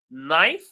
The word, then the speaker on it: knife: Knife, the K is silent.